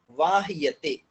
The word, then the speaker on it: वाह्यते: वाह्य, हाँ वो वाह्यते उसमें वाह्यते, या है तो वाह्यते। यते, और वाह्यते ऐसा उच्चारण बनेगा उसका, ये ठीक है, लेकिन जी उच्चारण हमें भैया।